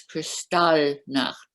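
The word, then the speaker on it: Kristall: was your experience in crystal knot oh okay now i'm glad you asked that uh if you want to be very very correct in german it's cristal the accent is on the second syllable uh and my my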